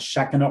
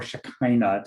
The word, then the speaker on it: Shekinah: um in judaism there's a term called shekinah or shakina depending on your pronunciation in hebrew and that means god's